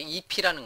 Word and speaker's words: IIFE: 이번 시간에는요, 자바스크립트의 디자인 패턴 중에서요, immediately invoked function expression, 줄여서 IIFE, 이제 발음할 때 EP라는 건데요.